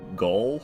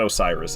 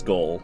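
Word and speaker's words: Gael: You're saying it wrong. Osiris pronounced like Gaul, I believe. You're right. It's not Osiris. It's Gaul. Like seagull used to despise Champion Gun Deer.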